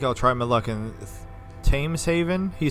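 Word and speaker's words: Thames: construction papers that was tames Haven that was T okay so we don't pronounce th's in in English English I'm not in good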